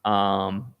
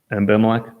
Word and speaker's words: Abimelech: We see, the Lord warns Amalek. I think that's how you say it. Abimelech.